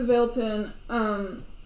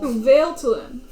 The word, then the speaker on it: Vailtalin: all the way to Vailton. Vailton? As in Vale, the bird. Or like veil, as in veil. Vailtalin. Vailtalin. Not Vailton. Vailtalin. Vale-Talin.